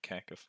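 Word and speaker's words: Kakifly: pronounce it, Cacafly.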